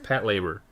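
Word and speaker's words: Patlabor: Oh my god, how do you pronounce this thing in English? Patrol Raver or Pat Raver. Labor. Pat Labor. Yes, Pat Labor.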